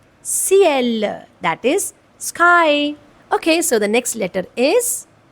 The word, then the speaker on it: ciel: So here letter C is coming with letter E. That's why it's giving a sound of S. And the pronunciation of this word is ciel, that is sky.